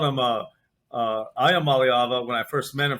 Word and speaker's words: Iamaleava: Iamaleava is how I say it, and that's about as close as I can get. But that's good enough. They're so wonderful. I called him Iamaleava when I first met